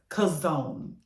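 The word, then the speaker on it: chazon: Vision we're going to use the Hebrew word kazone the 2377 and that is spelled c h a z n and I'll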